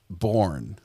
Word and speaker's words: Bourne: Born. B O B O U R N. And the E is silent on the end.